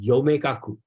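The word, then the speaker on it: 陽明学: I think even today, as in Japan they call it the Yomegaku. Okay, so because they just pronounce the Yangming in Japanese pronunciation called Yome.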